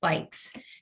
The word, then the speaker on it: BYCS: In addition to being the transit specialist at the City of Alexandria, she was recently selected by Amsterdam-based organization BYCS, which is pronounced Bikes, to be the bike mayor for the DC region.